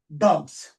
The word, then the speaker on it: dogs: So after just yes, after the vibrating sound or voice sound, S letter is after the voiced or vibrating sound, S letter is pronounced as J.